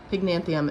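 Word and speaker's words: Pycnanthemum: Pygnanthium, I think, is actually the right way to say that. I've been saying it wrong for a while, but fun times.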